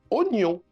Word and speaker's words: oignon: C'est pourquoi oignon se prononce oignon et pas oignon. Le I n'est là que pour mouiller.